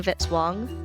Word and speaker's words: Vitz-Wong: Music by Kevin Vitz-Wong, rhymes with hit song.